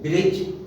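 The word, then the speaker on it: bridge: इसी roll number 8, यदि डी के बाद जी आए तो डी का उच्चारण ड साइलेंट अर्थात अनुच्चरित रहता है, केवल जी का उच्चारण जय ही बोला जाता है। जैसे ब्रिज, BRIDG, लेकिन बोला गया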